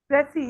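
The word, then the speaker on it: précis: प्रेसी, इट्स प्रेसी, S silent है, प्रेसी Precise.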